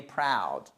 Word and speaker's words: proud: Donc c'est to be proud of someone et c'est proud, pas to be prude. On n'est pas prude, on est proud. OK, perfect, parce que ça